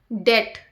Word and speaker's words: debt: Det, DEBT. We don't sound B. B is silent here.